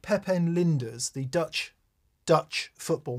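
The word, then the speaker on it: Pepijn: together folks okay Admar it's spelled p-e-p-i-j-n like Pepin lindas the Dutch Dutch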